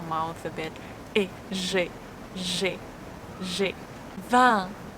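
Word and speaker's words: vingt: 20. This is nasal E sound.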